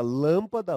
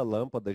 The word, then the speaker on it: lâmpada: né temos ali a palavra lâmpada lâmpada já tem um som fechado né lâmpada uma proparoxítona aquela famosa tonicidade na antepenúltima sílaba e por último nós